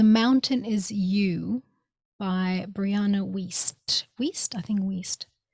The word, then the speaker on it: Wiest: It's called The Mountain Is You by Brianna Wiest. Wiest? I think Wiest. Not West, it's Wiest.